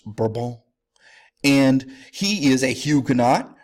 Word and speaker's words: Bourbon: Navarre is from the Bourbon family correctly pronounced verbal and he is a